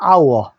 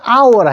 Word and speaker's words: hour: hour. 우리 한 시간을 an hour라 해요. H가 이게 자음인데 왜 on 썼습니까? 자, 여기 써놨죠. H는 묵음입니다. 요 소리가 안 나요. 그냥 hour입니다. 아 소리가만 났어요. 아 소리만 났기 때문에 모음 on을 씁니다.